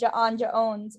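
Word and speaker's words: J'onn J'onzz: um uh secret identity jon jones not janja owns nope it's john jones there's jon jones as his human one but his martial one is janja owns and there's magen ma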